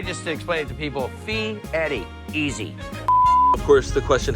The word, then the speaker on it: Fieri: A lot of people call it Fieri, but the E, the R, and the I in Italian, you roll it, Fieri. So I just explain it to people, Fieri, easy.